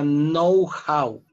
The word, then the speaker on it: know-how: Se pronuncia know-how.